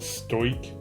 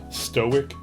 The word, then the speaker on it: stoic: He must have pronounced it stoic, like, you know, like a stoichiometry problem in chemistry instead of stoic, which is, you know, what he probably meant.